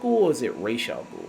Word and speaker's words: Ra's al Ghul: Because I've always heard in the comics and the animated series they pronounce Ra's al Ghul. And I think even in Arabic, where that name comes from, that's how it's pronounced.